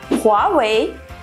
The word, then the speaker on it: Huawei: Давайте заодно разберемся, как же правильно произносится название китайских мобильных телефонов. Это Huawei, Huawei и Xiaomi.